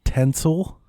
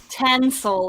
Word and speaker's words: tinsel: Tinsel. Tinsel. What am I not saying? I'm saying tinsel, like T-E-N. Tinsel. Yeah, Delvin's saying it right. Tinsel. Like pin instead of pen.